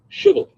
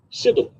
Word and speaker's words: Shibboleth: If the man said, no, I'm not, They would tell him to say Shibboleth. If he was from Ephraim, he would say Sibboleth, because people from Ephraim cannot pronounce the word correctly.